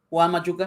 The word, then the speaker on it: Juan Machuca: But is it Juan Machuca? Is that right? Yeah, it's pretty much the name Juan Machuca.